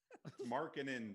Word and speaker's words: Markkanen: Marking in, Dan. You got to get that Finish. Finnish pronunciation Listen, right.